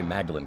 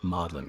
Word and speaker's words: Magdalen: We Americans would say Magdalen College. You got to say it like you're a Brit, Magdalen College.